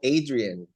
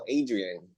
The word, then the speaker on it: Adrian: De hecho, que estaba pensando que yo creo que sería como Adrian. Si Sí, lo sí, ¿no? Si lo leyeran, tu nombre sería como Adrian. sí, familiares que son de Estados Unidos me han dicho que mi nombre se pronunciaría así.